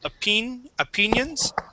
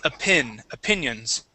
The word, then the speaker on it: opinions: Remember, a short I sound. Instead of opinions, it is opinions.